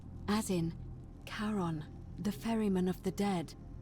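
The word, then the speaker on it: Charon: a hooded figure with a coin to the pronunciation is a little off the name you heard wasn't Karen it was c h a r o n as in karon the Fairman of the Dead karon who in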